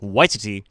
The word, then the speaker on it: Waititi: Taika Waititi, I believe it's pronounced Waititi, is he's been signed